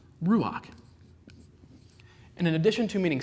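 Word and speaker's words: רוח: Spirit of God now spirit in the Hebrew is pronounced Ruach and in addition to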